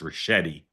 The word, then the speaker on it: Ricchetti: Okay, I will politely and gently tell you his name is pronounced Ricchetti.